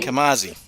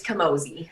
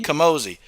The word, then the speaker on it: Camozzi: castille for giving me this interview with kamazi thank you and did i pronounce that right because it's a weird one it's kamosi okay i have to say it right i